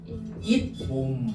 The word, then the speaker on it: 잇몸: 이거 이거 한번 자연스럽게 읽어 봐. 인몸 인몸 인몸 인몸 맞아요. 갑자기 니은 소리가 덧나지 않습니까? 그러면 여기 가운데 뭘 추가해 주는 거야? 시옷을 추가해 주는 거야. 아 그니까 니은 소리가 단어가 다잖아. 그러면이 가운데 시옷을 넣어 준다고. 그래서 어떻게 되는 거야? 잇몸 요렇게 되는 거야.